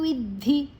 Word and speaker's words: ವಿದ್ಧಿ: ಅನುಸ್ವರದ ಉಚ್ಚಾರಣೆ nasal ಮುರಜೋರಾಗಾತ್ಮಕಂ ವಿದ್ಧಿ ದ ಮತ್ತೆ ಧಿ ಮಹಾಪ್ರಾಣ ಧಿ ಅಡಿ ಒತ್ತಿದೆ ವಿದ್ದಿ ದ ಅನ್ನ ವಿ ಯ ಜೊತೆ ತಕೊಳ್ಳುವ ವಿದ್ಧಿ ತೃಷ್ಣ ತ ಮತ್ತೆ ಋ